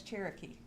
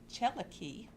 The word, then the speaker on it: Cherokee: Cherokee is actually a mispronounced Creek word, Cherokee, which means people of a different speech.